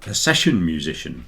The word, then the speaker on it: session musician: One of the most difficult things for people to say, because you begin with a s and then sh. So it goes sesh, like that.